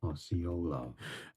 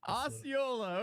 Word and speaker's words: Osceola: Osceola. Osceola. Okay, we got that. Bro, what was this? Why did Google recommend him number? Osceola County, Florida.